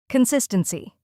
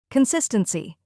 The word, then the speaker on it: consistency: Consistency. Con-SIS-10-C. 4 syllables. Stress on the second part. Consistency.